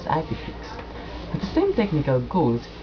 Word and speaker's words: IPFIX: protocol called ipfix or IP flow information expert pronounce as ipix at the same technical